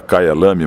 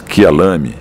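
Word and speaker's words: Kyalami: África do Sul el explicou que a pronúncia certa não era não era Kai lam mas K lam E aí eu tô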